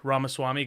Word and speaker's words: Ramaswamy: from the GOP DeSantis Vivek ramaswamy guys remember it rhymes with cake um and then we